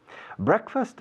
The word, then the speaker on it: breakfast: Pero la pronunciación se ha evolucionado hacia una palabra de sonido diferente.